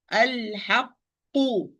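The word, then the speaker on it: الْحَقُّ: So there is no qalqala here, even with this qaf, the first qaf, because I close the articulation point. I close the articulation point and start the pronunciation of qaf with sukun, and open the articulation point and pronounce the qaf with dhamma.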